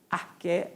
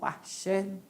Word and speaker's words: arché: origem o começo Então essa palavra arqué ou arché pode ser pronunciada das duas vezes né arché pela nossa língua língua portuguesa e arqué pela origem da palavra grega certo então era a